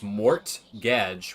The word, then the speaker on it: mortgage: Well, it's mortgage, right? The T is silent.